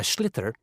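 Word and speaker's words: sliotar: you have to get this ball called a schlitter that's s-l-i-o-t-a-r so it's not spelt the way it's pronounced you hit it into the net for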